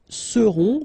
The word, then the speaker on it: seront: Ils seront, final T not pronounced, and then you've got this nasal, on, seront, elles seront.